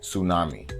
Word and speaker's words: tsunami: Number seven, tsunami. So close to making a normal word and then you added a random T in there.